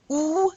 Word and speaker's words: au: And there's a contraction that happens when a comes with in front of le. You have to contract it to the AU. It's pronounced O.